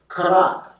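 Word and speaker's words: chanak: The word train used here is kanak. Number 2596. Kanak is spelled C-H-A-N-A-K.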